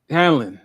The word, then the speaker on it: Hallorann: How do you pronounce his last name? Which one? Oh, The Hallorann? black guy. Hallorann. Yeah, sorry.